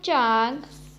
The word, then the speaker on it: zhang: The next Pinyin is ZHANG, has a pronunciation of chang, chang.